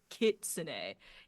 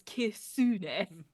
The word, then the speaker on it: kitsune: That I have a weeb friend who is like, I get so mad with people who pronounce it kitsune. It's kisune. No, it's.